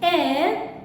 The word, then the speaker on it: heir: See the word H-E-I-R. Here the letter H is silent. It's a silent letter. So what is the sound produced? It is A, which is a vowel sound. Heir. So an heir.